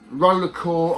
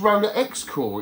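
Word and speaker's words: RollerXCore: Roller Core. I thought it was Roller X Core. Is it just Roller Core with the silent X? I didn't realise. There's me pronouncing it Roller X Core.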